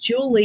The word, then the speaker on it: Julia: um Julie n and my first name is pronounced Julie even though it's spelled Julia because my parents did that